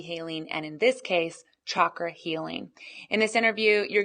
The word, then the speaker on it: chakra: They do the SH sound, chakra, when it's a CH, chakra.